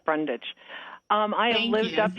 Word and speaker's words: Brundage: is ms brundige miss brundees you're live on the air with the designer view board thank you it's pronounced brundage um i have lived